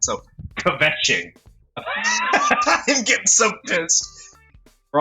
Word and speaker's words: kvetching: Is the K silent? If the K is silent...